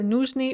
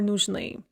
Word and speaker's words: нужны: We have нужен, нужна, нужно, and then the plural can be either нужны or нужны. The stress can be on either syllable in the plural.